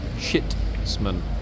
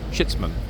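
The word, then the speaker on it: chitsman: is a chits man okay uh let me spell it c h i TS m a n shitman shitman okay what is a chitman good question in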